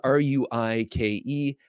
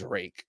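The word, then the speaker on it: Ruike: from Phoenix flashlights spelled r UI K which you might think should be pronounced ruik uh but it is rake okay so this is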